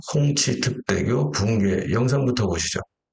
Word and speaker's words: 홍치: 마을시에 있는 홍기 특대교 우리 발음으로 홍기 중국 발음은 홍치가 됩니다. 홍치 특대교 붕괴 영상부터 보시죠.